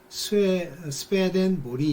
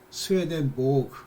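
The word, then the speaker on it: Swedenborg: 그래서 이제 그거를 스웨덴 발음으로는 스웨덴 보리 이렇게 부른대요. 그렇지만 뭐 이제 그걸 영어식으로 독일어식으로 이렇게 하면 스웨덴 보그 이렇게 부르기도 하고 그런데요.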